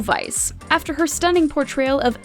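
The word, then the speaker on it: Weisz: it right ratakowski rachel weiss the w is really pronounced like a v says our classy star rachel vice after her stunning portrayal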